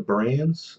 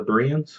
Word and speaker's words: Bereans: to you guys about the brains are the Bereans sorry brains yes pronunciation matters the Bereans from the